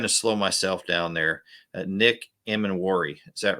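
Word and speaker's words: Nick Emanwori: names are, and I don't like it when someone mispronounces my name. So I was trying to slow myself down there. Nick Emanwari.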